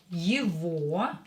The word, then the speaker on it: его: Я его люблю. Я его люблю. Люблю. Я его люблю. Его is pronounced instead of г. We will pronounce в, but you have to write г there, not в.